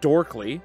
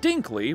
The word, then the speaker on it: Dinkley: Back at home, Velma catches the news broadcast announcing his arrest and the news anchor gets her name wrong, saying Vermin Dorkley, and adds that her father, Amon Dinkley, will be representing Freddy.